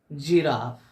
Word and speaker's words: giraffe: GIRAFFE, जिराफ।